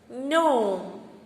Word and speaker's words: gnome: G silent words. Gnat, gnome, champagne, clone, camping, new, nav and nash.